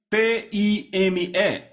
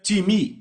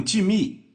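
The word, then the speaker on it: τιμή: grega timi então sr-se t i m e em português pronunciamos talvez time não se pronuncia dessa forma em grego se pronuncia timi repitam timi Ok então eu falei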